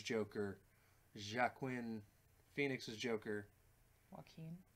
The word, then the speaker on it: Joaquin: Jack Quinn phoenixes Joker Joaquin Joaquin sure and look he needs to spell his name W a ke e m or some like that if he wants to pronounce correctly Joaquin sure yeah um